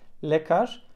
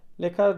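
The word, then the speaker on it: ljekar: Türkçede olmayan bir Arkadaşlar İki harfin yan yana gelmesiyle ve y harfini Türkçe şekilde ve j harfi Boşnak sadal eve yeğenin yan yana gelmesi şeklinde okunuyor örneği ve kâr arkadaşlar yani bakın buradaki yeni uzatmış çok kısa bir ye ses çıkıyor lekar lekar dediğimiz doktor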